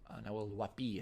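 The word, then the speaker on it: Nahuel Huapi: Nahuelhuapi is actually it's pronounced.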